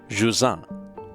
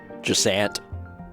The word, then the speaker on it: Jusant: Dotnod is a French studio, and it is pronounced Jusant, and that's the best I can possibly do with the French pronunciation. But the developers have also been like, you could also pronounce it like Jusant, and I was like, okay.